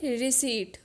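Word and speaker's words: receipt: next word है रिसेट pronunciation पर ध्यान दें रियर सीट इसमें जो स्पीड है वह एकदम साइलेंट रहेगा रिसेट का मतलब है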